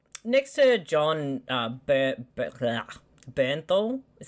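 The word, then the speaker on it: Jon Bernthal: i really i i feel like next to john bernthal is how you say his name yeah yeah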